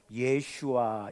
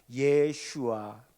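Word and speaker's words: ישוע: 같은 이름이에요 그래서 지금도 유대인들은 예수라고 발음하지 않고 히브리어 발음으로 예슈와 이렇게 발음합니다 여호수아 호쉐야 예슈아 같은 이름이라는 거예요 이렇게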